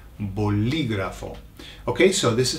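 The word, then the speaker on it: bolígrafo: Be careful with the pronunciation. There's an accent on the I, boligrafo.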